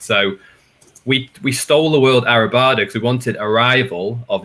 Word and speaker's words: Arribada: You get Arribada, Arribada. But Arribada is the right way of saying it.